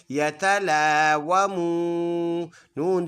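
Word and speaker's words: يتلاومون: Meme वाव पेश मू, यतलावमू, नून ज़बर न, यतलावमून। स्टॉप करेंगे कि नून का ज़बर साइलेंट, यतलावमून बन जाएगा।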